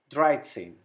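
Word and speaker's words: dreizehn: dry and then we add same to it dried same number 14 the same process the last number four we have written it fear then add same to it fiat same 14.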